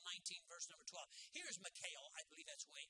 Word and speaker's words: Michal: Here's Michal, I believe that's the way, Michal, I believe is the way you say her name.